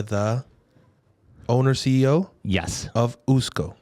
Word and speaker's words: Usko: and you are the owner CEO yes of usco correct did I pronounce that one right too you pronounced that